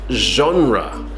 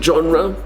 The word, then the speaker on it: genre: the first one now this is a very strange pronunciation from French I think so we say genre new genre soompi you could say genre but it's more natural